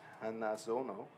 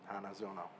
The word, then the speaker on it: Hanazono: And the first battle will be Hayden Williams and Lucas Hazono. I'm sorry, how do you pronounce that last name? Hanzono. Hanzono. The confidence. You're like, "Oh, absolutely." Hanazono.